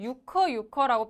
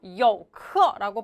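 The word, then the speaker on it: 游客: 많이들 뉴스에서는 유커라고 표현하는 경우가 있어요. 그렇죠? 그런데 정확한 표현은 병음을 쓰면 이렇게 쓰기 때문에 유커가 아니라 원래는 뭐예요? 여커라고 발음해야지 정확하다라는 거 참고하세요.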